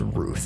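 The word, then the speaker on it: Routh: Yeah, it's pronounced Ruth. I've always said Roth. Technically. I've heard Roth, I've heard Ralph, and I've heard Ruth. It's actually pronounced Ruth.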